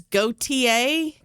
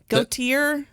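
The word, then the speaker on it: Gaultier: got the name wrong who is goate gotier you had it right the first time yeah oh it's goate goate yeah good job I would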